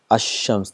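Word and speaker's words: الشمس: Whereas in previous, if you see ash-shams, the lam is not produced.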